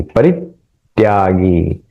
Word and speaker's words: परित्यागी: गया उसका, शुभाशुभ परित्यागी, परित्यागी जब हम उच्चारण करें परित, ये जो त है वहां पे एक आघात लेना पड़ेगा, तब वो अ, छंद है सही से सुनाई देगा।